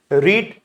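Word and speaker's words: read: रीड first, second, third same. रीड, रैड, रीड pronunciation बस different है। बाकी spelling same है।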